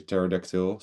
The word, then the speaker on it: pterodactyl: flying one the pacy oh sorry pterodactyl he be silent and this is a